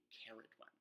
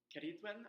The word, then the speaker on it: Ceridwen: a native Welsh speaker, Ceridwen, I think, is like the more appropriate way to pronounce her name in Welsh.